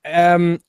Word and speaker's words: Uwe: So it's spelled U-W-E. Yeah, I don't want the spelling. I want the pronunciation. Uwe Boll. And yeah, no. How would you say? It's Uwe. Uwe. Oh, sorry. You're right. It is Uwe Boll. Yeah. I don't know how to say German.